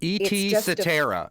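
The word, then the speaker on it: et cetera: very pronunciation of Etc and in both languages Etc is the only word that starts with at instead of X which is so much more common ET satera it's the song that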